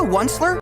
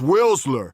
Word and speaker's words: Willsler: Are you the Onler? It's pronounced Willsler, and I am the last man left in the world.